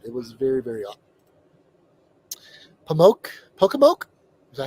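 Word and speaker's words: Pocomoke: Pokemoke? Is that how you say it? Pokemoke? Yeah. Pokemoke Forest is hi from Maryland.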